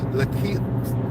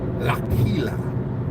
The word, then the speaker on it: Lakilya: Lakilya, I can't even say the child's name properly. Lakilya. I gotta say it like it's a Hebrew name.